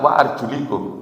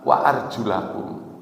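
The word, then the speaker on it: وَأَرْجُلَكُمْ: itu coba dicek nanti itu tidak waarjulikum tapi wa arjulakum karena kaki itu mengikuti wajah dan tangan yaitu di dibasuh di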